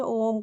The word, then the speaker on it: ओम: एक मात्रिक ओम जब हम ओम का उच्चारण करते हैं तो उसमें ओम को ज़्यादा नहीं खींचा जाता, ओम थोड़ा खींच के बोला जाता है।